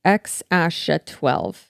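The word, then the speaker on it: X Æ A-12: And apparently the name is pronounced X-A12.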